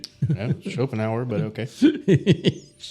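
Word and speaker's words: Schopenhauer: Shopenh hour, but okay. Shopping Hoover.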